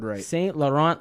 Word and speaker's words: St. Laurent: Laurent yes or Saint Laurent the French pronunciation C French name okay Saint Laurent latency ation like the